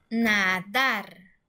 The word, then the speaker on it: nadar: Ok, la palabra nadar. Si estuviera la sílaba tónica en la penúltima sílaba, diría nadar, nadar. Pero nosotros pronunciamos nadar. Entonces, la sílaba tónica está en la última sílaba.